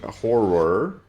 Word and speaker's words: horror: Creeping horror. Horror. There's two syllables there.